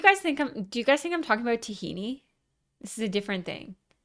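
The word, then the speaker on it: Tajín: Have you guys ever tried uh tajin? Tahin. I'll spell it in the chats.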